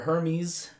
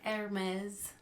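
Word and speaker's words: Hermès: Gives her a Hermes. How do you say that correctly, Lily? Hermes. Oh, it's Hermes.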